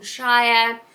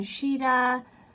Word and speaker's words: Shire: who heared by Wilson Shire counter just popping in here to make a correction I don't have my two Wilson for mispronouncing her last name as Wilson shida and namahi to Ben